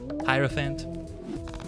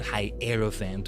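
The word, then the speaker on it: Hierophant: And now that I think about it, it makes sense that it was hierofphant all along. Not high aeropant or No, it's like hieroglyphs, right?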